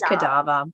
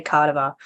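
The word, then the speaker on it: cadaver: that word right because I always kadava it is kadava but I always want to say cardiva I pronounce things differently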